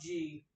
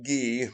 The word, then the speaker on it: ghee: would try just eliminating milk and butter, try G. And if you don't have problem, it's pronounced ghee.